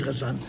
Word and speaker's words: Kherson: So the Mitteler Rebbe asked from the government to be given land in the Ukraine, in a place called Khersoner. which is spelled K-H, Kherson, it's spelled Kherson.